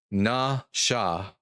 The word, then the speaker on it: nasha: So it's not na. This wouldn't be na, it's na. Na sha. Nasha.